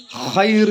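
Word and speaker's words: خير: ബർക്കത്തും നൽകട്ടെ എന്നൊക്കെ പറയും ഹൈർ എന്നാണ് ശരിക്കും ഉച്ചാരണം ജസാക്കള്ളാഹു ഹൈറാ നമുക്ക് ആരെങ്കിലുമൊക്കെ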